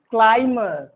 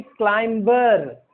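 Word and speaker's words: climber: जैसे क्लाइमर, प्लम्बर, न कि क्लाइंबर, गलत है।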